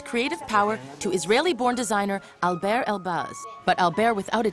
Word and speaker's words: Alber: Try to say Albert. And they said spell it. I said it's the same, but just don't pronounce the T.